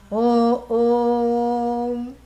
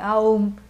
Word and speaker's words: Om: And you know, this is something which is it is sacrilege to elongate Om or pronounce it any other way. You cannot pronounce it sideways by saying Aum. That's not the way your jaw is supposed to move.